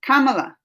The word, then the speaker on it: Kamala: with all thank you hello rajesh yes kamala kamala is the right pronunciation miss marvel on this channel because that's